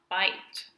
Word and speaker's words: bite: B, I, t, bite. So we went from bit to bite. From I to I, because we have the silent E that makes the long vowel for I here.